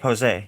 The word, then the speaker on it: Posey: Posey.